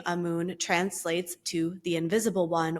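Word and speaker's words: Amun: the god amoon um you could pronounce it amen or amoon I I'm guided to say amoon who was at the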